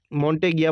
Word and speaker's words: Montagnier: Montagnier, जिनको क्या बोला जाता है, माउंट कैसे प्रोनाउंस करते हैं? मॉन्टेगिया बोलते हैं इसको ना, मॉन्टेगिया, who directs the viral